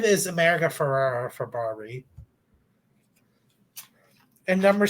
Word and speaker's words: Ferrera: of America Ferrera is it's actually pronounced Ferrera, not Ferrara. Oh yeah, sorry. Everyone, it's so weird. Everyone always calls it Ferrara, but it's Ferrera.